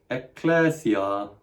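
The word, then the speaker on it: ἐκκλησία: You can hear that I'm trying to double it up in the same way we double up T in rat trap and double up P in hip pocket.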